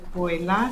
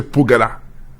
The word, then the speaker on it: Poela: En principe, mon nom a été simplifié. Vous l'avez très bien prononcé. Ça fait partie de l'aliénation mentale que nous avons. Mon nom a été simplifié depuis la colonisation par les colons qui ont amené l'écriture latine en Afrique où, au lieu de prononcer Pugala, il était facile pour eux d'écrire Poela.